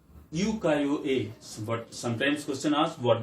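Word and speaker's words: ukiyo-e: is a pronunciation uko this is a uko a but sometimes question ask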